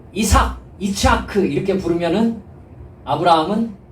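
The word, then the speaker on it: יצחק: 라고 해라 이렇게 말씀하십니다 여러분 이삭을 요 히브리 원어로 발음하면 어떻게 되냐면 이차크 입니다 위치 하구요 아 어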